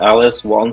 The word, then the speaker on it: Alice Walton: more about this yeah the Alice Walton school of medicine pronounced awesome she is building a